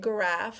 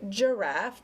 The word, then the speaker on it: giraffe: sorry the soft sound so like giraffe we're not going to spell it we're not going to say it graph we're going to say it giraffe because the g came before an eye or jim g-e-g-e-m it